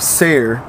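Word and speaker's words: Seir: to his brother Esau in the region of Sayre s-e-i-r in the country of Edom Edom commanding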